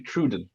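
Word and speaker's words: Troodon: It's actually Truden.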